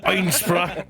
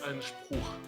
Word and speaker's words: Einspruch: Object Einspra. Oh no, Also- crunch. Ah, Rice Ron- Krispies. Also, in the meantime, Thank you. I was also checking, and the objection is pronounced Einspruch. Sorry, I mean I'm not German, so It's- Einspruch.